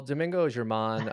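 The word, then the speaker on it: Domingo Germán: For the folks at home, how's that pronounced? Well, Domingo German.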